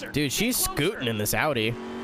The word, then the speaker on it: Audi: to ten how much does it annoy you of the people who say Audi that that really bothers me I've corrected one of my friends like four times and he was like no you're saying it wrong I was like all right so the Germans are wrong I guess the the Germans are saying their own name wrong yep you got it